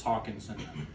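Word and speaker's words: Hockenson: Well, so when we had made that trade, first off, it's Hawkinson. Okay, he put up 40 points. He went nuclear last week. Okay, so it's important you say his name correctly.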